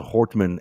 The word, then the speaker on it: Hortman: Um you know we're seeing this it's sorry I I misspelled I think I mispronounced the name. It's Melissa Hortman and Senator John Hoffman.